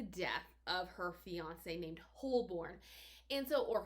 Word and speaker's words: Holborn: are narrated so well narrator pronounces it wholeburn but it's spelled with two o's h-o-l-b-o-r-n so if i